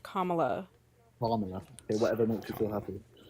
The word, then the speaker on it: Kamala: Trump and Camila both her name is pronounced Kamala.